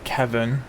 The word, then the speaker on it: Quevon: There's one called Kevin, but it's spelled Quevon.